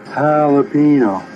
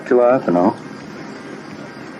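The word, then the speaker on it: jalapeño: Jalapino, not galapo. What in the are you guys talking about? Jalapino. That's how you pronounce it.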